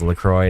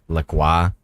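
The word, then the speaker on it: LaCroix: Lacroy was so anal about their company being pronounced Lacroy, not Lqua.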